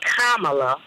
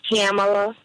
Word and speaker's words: Kamala: just want to say it's vice president Kamala not camela and I don't think